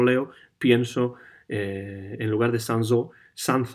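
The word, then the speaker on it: Sanzot: es la carnicería sansot yo siempre he dicho sanz o tal leerlo en en español pero claro en francés se pronunciaría sansó y por tanto en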